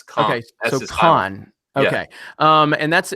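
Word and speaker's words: Cannes: film festival that's what I mean but it's pronounced KH it's not no s don't say s it's KH con okay um and that's it's a vase production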